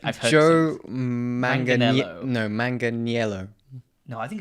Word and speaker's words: Manganiello: No, Manganiello. No, I think it's Manganiello. Nope. There's an I in there.